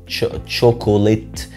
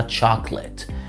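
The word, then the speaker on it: chocolate: الشوكولاته بالانجلش ما اسمهاش شوكوليت. الاو الثانيه ما بتتنطقش، اسمها تشوكليت. تشوكليت.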